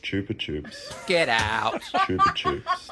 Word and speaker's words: Chupa Chups: where the brand is actually from uh it's pronounced Chupa Chups get out chup Chups not choer chops ch ch ch to suck chup uh the